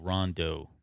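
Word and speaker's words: Rondeau: if you have any feedback on that disney it's spelled r-o-n-d-e-a-u rondo please call him yeah okay that's the complaint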